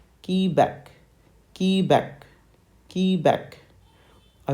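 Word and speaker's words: Quebec: on back okay so the letter Q in phonetics is pronounced as key back key back key back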